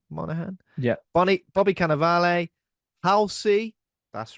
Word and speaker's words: Monaghan: Monaghan.